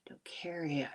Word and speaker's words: docetic: Um dope dope docetic would be a hard C.